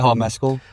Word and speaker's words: Mescal: Mescal? Paul Mescal.